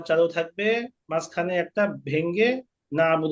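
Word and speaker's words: نَعْبُدُ: আমি বলব তখন কাফের কোন আওয়াজ আসবে না নাবুদু নাবুদু আয়নারে চাপ দেওয়া যাবে না আয়নার উপরে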